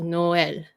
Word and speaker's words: Noël: Wait, give another one for that last one, Noel. What do you mean by two syllables? No is one word syllable, and then EL. EL. So you have to say EL.